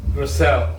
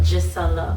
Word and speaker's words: Gisela: you once again and I present to you Giselle. Oh, Gisella. Gisella. See what I mean? Gisella is yeah, gets mispronounced a lot of times. Either Gisella, Gizelli, Gizello, so but Gisella.